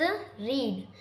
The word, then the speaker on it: read: Third verb is रीड। रीड की second form होती है रेड। हम इसे रीड लिखते हैं लेकिन प्रोनाउंस करते हैं रेड।